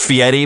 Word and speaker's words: Fieri: And I will, it's pronounced Fieri, but his real name is Ferry.